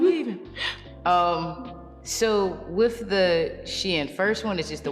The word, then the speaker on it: SHEIN: It is literally SHEIN, like she and then in.